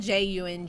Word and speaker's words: Jung: and I read his work Carl Jung Zhang it's spelled Ju ng you know I think it's Jung but of